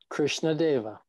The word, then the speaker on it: Krishna Deva: your name oh yeah can you pronounce it krishna deva oh it's exactly as as it looks okay i love that